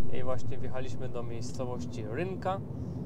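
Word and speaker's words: Rânca: I właśnie wjechaliśmy do miejscowości Rynka. Czyta się ranca, znaczy pisze się, przepraszam.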